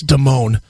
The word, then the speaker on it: Damone: But it's Damone.